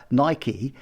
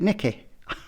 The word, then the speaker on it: Nike: and that's pretty fundamental imagine you are Nike and you've got an audition and someone's calling it Nikki whatever you know you